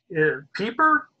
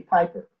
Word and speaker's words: Piper: Walter, and is it Walter Pieper? Am I pronouncing that correctly? Can you unmute yourself too, Walter? No, it's actually Piper.